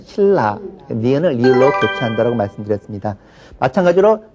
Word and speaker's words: 신라: 신나로 발음을 쓰지만 발음할 때는 신라 니은을 리을로 교체한다라고 말씀드렸습니다.